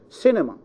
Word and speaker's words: cinema: not from the beginning so cinema C nu ma the third syllable is C cinema quantity quantity okay we